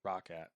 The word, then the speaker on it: Roccat: Roccat. Roccat. That's how you pronounce it.